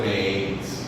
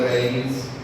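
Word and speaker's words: maíz: I passed a house of corn, casa de maiz, right? Is that something Your Spanish is better. Is that how you pronounce it? Casa de maiz?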